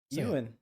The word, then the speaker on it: Ewan: You're putting too much H into it. Ewan. Yeah. How you say it? Euan.